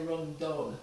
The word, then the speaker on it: rundown: So the traditional rundown, it's run down, but they say run done, which is spelt D-U-N.